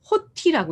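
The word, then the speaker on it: ὅτι: 자, 요게 보면 헬라로 읽으면 호티라고 읽어요. 호티.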